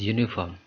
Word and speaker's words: uniform: over here not an because uniform uniform if we you know uh pronounce it it will give a consonant sound like y uniform uniform okay why it sounds like y not you so as per rule